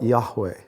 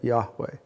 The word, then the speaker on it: Yahweh: That was the unpronounceable name of God, YHWH, right? We put letters in it and we call it Yahweh, right? Yahweh.